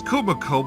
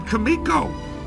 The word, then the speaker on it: Kumiko: Now, Daniel says Kumiko, but I thought she said Kamiko. That's always how I pronounced her name, is Kamiko.